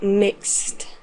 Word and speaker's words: mixed: Entonces su pronunciación en pasado será como si tuviera solo una T al final.